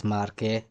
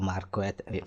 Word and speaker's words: Marquette: So this is the examples this Marqu or Marquet is Marqu is not Marquet Marquet is a English pronunciation is Marqu is French your name is French